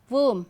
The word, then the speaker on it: womb: M, okay, like tomb, womb. So, whenever you find B is at the end of a word and just after the letter M, B is silent.